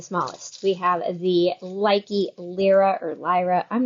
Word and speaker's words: Lyra: we have the liky Lira or Lyra I'm not sure which way to pronounce it say lira l-y-r-a yeah cause like lyrical yeah uh so we